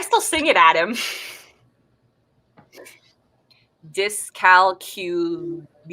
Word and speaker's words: dyscalculia: sing it at him dis calcula is how you pronounce dyscalculia okay my child was